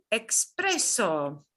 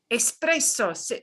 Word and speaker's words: espresso: Expreso. Espresso, no se escribe con X, ¿no?